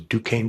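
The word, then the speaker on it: Duquesne: Dukane University had a problem with no one knowing how to say their name outside of Alagany and the five contiguous counties.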